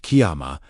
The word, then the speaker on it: Kyama: The third key is Kyama, pronounced Kyama, a word connected with rising, standing, being established, and taking one's place.